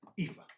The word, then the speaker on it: Aoife: Out of curiosity, how do you pronounce her first name? Aoife.